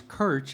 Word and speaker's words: Krc: you don't know me, it's Kirch. It's just spelled with three consonant letters, KRC.